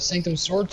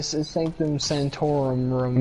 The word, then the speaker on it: Sanctum Sanctorum: That's probably and, Sanctum Sword. Yes. Oh my god, I butchered that. Sanctum Sword. So the Sanctum Sanctorum.